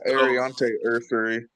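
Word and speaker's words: Aireontae Ersery: I mean, you did went out you you drafted uh I don't know how to pronounce it, but Urs Urseri, the offensive tackle out of Minnesota. Yeah. Arante Ursery.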